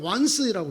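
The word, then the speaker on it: 万岁: 똑같은 만세라고 한자를 써놓고 일본말로는 반자이라고 읽고 중국말로 완스이라고 읽어요.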